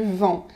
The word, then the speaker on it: vent: mais si vous dites il y à du vin alors là c'est pas tout à fait pareil et on va vous regarder comme si vous étiez un peu bizarre un peu illuminée comme on dit un